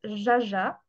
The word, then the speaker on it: jaja: Alors, on a le jaja. Oui, attention, ça se prononce jaja.